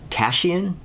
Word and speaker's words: Tashian: Well, in fact, it turns out that that Daniel Tashian, that's how you pronounce his name, he's like the singer-songwriter of the band.